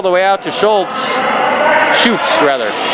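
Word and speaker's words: Schutz: way out to Schultz shoots rather SCH you TZ is the name on the back of his jersey I believe that's pronounced shoots and will shoot shoot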